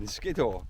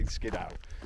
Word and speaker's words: Skiddaw: Skidor now. Um, I will get that right by the end of this video. So frustrating. Skidor. I don't know why I keep trying to say Skidtow.